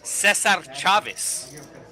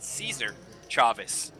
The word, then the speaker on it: Cesar Chavez: the downtown area is Cesar Chaveis, which once again is the proper Spanish way to pronounce it, but all the locals call it Caesar Chaveis.